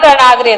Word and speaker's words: रणाग्रे: हाँ रन रणाग्रे, रंग, फिर से रन मेरे से रन रणाग्रे, रंग नहीं है, रन रणाग्रे, रन रणा, नमोकार वाला न, नड़ा ण, अड़, अच्छा, अड़ का उच्चारण है इसमें, ण, ण।